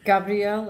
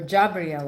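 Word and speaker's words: Gabriel Bonfim: Gabrielle or Jabriel, I think he pronounces his name.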